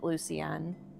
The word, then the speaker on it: Lucien: They pronounce it Lucenne.